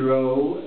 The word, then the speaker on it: Rowe: in the highest said Richard Rowe rhymes with Thoreau would music director for the initial period wrote and sang some of them upon me remembered schoolhouse rocks mr.